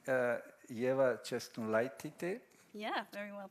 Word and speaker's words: Ieva Česnulaitytė: So today we have, and I hope I will pronounce it correctly, Ieva Česnulaitytė.